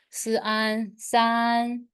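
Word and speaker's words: 四: is s s so which tone the first one second the third and the last one yes the last one Su s s you need to emphasize s s so s s in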